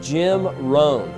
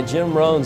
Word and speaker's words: Rohn: got Tony Robbins started was a guy named Jim Rohn and hits last name is spelled ROH in Jim Rohn he did a